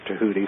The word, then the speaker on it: Thoth: of people pronounce it Thoth or Thoth, but it's actually Tahuta. The Egyptian language is kind of like Hebrew in that you have to apply the vowels.